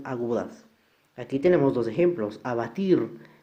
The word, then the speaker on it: abatir: Abatir, la mayor fuerza recae en la última sílaba, por lo tanto sí es una palabra aguda.